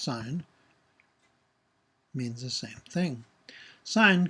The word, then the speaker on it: sine: Another word for chord is sine, which is abbreviated SIN, but still pronounced sine.